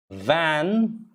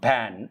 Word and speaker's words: van: love knives save save van van it's not ban it don't put your lips together lips should never be together for v v is touching the